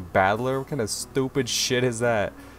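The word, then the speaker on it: 戦人: is made up of the characters for fight and person is pronounced battler ah like a fighting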